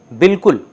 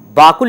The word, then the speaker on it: بالکل: ہیں اور کہتے ہیں بالکل۔ اسے ہم باکل نہیں کہہ سکتے، یعنی بکل نہیں پڑھ سکتے، بالکل پڑھیں گے تبھی یہ صحیح تلفظ ہوگا اس لفظ کا۔ اور یہ ڈیسائیڈ ہوتا